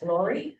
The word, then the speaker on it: Lurie: Okay, the first book that I recommended is Glory Girls by Jeff Lurie.